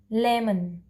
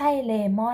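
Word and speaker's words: lemon: ต่อ ไป นะ คะ เลว มัน เลว มัน ไม่ ใช่ เลมอน นะ คะ ไม่ อ่าน ว่า เลมอน นะ คะ แต่ เรา จะ อ่าน ว่า เลว มัน เอ้า e m o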